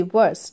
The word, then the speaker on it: worse: अब देखिए HORSE हॉर्स, it is pronounced as horse, while WORSE it is WORSE वर्स, ठीक है, यानी बदतरीन. इट is pronounce as वर्स.